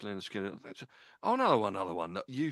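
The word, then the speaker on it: Lynyrd Skynyrd: And I've got so many written down on a bit of paper here, you probably can't see, but yeah, pronounced Leonard Skinner.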